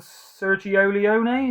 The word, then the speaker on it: Sergio Leone: There's Clint Eastwood and Sergio Leone, is how you say it, I think.